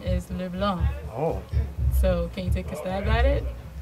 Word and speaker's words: LeBlanc: Well, the correct pronunciation is LeBlanc.